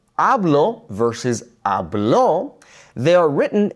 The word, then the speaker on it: hablo: So, the natural emphasis falls right there on that first a, hablo.